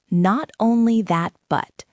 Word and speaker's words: not only that, but: It's a chunk. Not only that, but the stress usually falls on that.